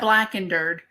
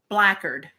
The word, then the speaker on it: Blackard: make them Mac foreign no not black and dirt blackard relaxing oh my God